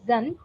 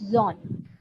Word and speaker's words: Amazon: It's not Zun, it's Zon, right?